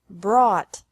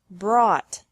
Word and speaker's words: brought: Bring, brought, brought. Buy bought bought. Catch. Caught. Caught. Fight. Fought. Fought. Seek. Sought. Sought. Teach. Taught. Taught. Think. Thought. Thought. Remember that the G is silent in these verbs.